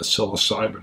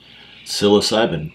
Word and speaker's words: psilocybin: smoking cessation in the psilocybin world interesting not saying it's connected just saying stranger and stranger psilocybin it starts with a ps it sure does silent p um wow boy even